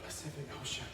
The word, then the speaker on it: Pacific Ocean: Did you know that every letter C in the word Pacific Ocean is pronounced differently? Pacific Ocean.